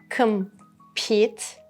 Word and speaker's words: compete: Number 2, compete, compete. The stress is on pete.